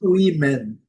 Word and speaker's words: women: Wan e no plural, plural de mulher e mulheres em inglês women. OK? Como eu disse, é um caso isolado. Nós não temos outros casos em inglês do O com som de i, mas vale a pena aí, né, explicar.